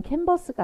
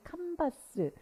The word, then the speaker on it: 칸바스: 하는데 어 주님께서 어 미국식 발음 캔버스가 아니라 바스라는 그런 발음을 주셨어요 근데 캔버스는 우리가 직조 천인 가방을 말하잖아요 그근데 왜 바스 그래가지고 너무 이 칸바스 칸바스 이러니까 너무 촌스러운